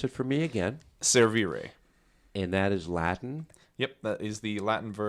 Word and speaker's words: Servire: survey Ray Chris good morning good morning um pronounce it for me again servere and that is Latin yep that is the